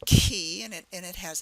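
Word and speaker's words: Chi: right that's followed by key it's like a key that opens a door key and uh in the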